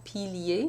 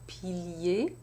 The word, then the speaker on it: piliers: So I have piliers in 2 syllables. Piliers, because I only need 2 syllables to complete my full 12. But if I had this word in a different context where I needed an extra syllable to complete the line, then I could also say pilier in 3 syllables, but I don't need that here.